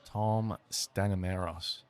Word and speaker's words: Tom Stanimeros: Tom Stanimeros. That's the one. Do I pronounce that right?